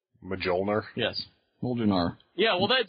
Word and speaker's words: Mjölnir: There's much more of a J in there when I say it. Mjölnir?